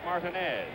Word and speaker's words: Martinez: we're told that the absolute correctness of the pronunciation is martinez right field may set three to two paul